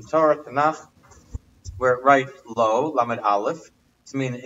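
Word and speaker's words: לא: I mentioned what I told the other night, the word lo, lamed vav, and lamed aleph. They're both pronounced the same, but there are a number of places in Torah, Tanakh, where it writes lo, lamed aleph, to mean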